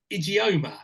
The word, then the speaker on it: Ijeoma: The Syndicate aka DJ fingers AKA Carl and idioma now am I pronouncing that correctly you're good you're good you're